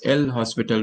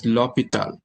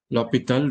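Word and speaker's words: L'Hôpital: and that is lopita rule okay we sometimes pronounce this as l hospital rule but actually this is l hospital was a french mathematician and this is pronounced as lopital lopital rule so now um i take the derivative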